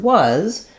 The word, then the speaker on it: was: Our Z sound is actually very commonly spelled with S, but in order to make sure that you're not saying was with an S sound, you might want to write it with a Z here or picture it with